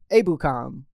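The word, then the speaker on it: Ebukam: That was a popular one, but Abukam.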